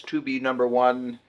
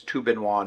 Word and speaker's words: Tobenone: everybody Welcome Back today's review is sponsored by tuin onean so previous videos I have pronounced it as tub number one uh and a few other things but I finally figured out the correct pronunciation it's tuin Juan is the company that makes it all right